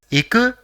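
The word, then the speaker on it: いく: So it will be pronounced as iku, which is actually the dictionary form of the verb ikimasu, which means to go.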